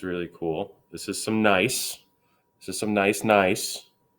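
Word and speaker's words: gneiss: we up here we have a piece of nice that's pronounced nice not good nice that's nice we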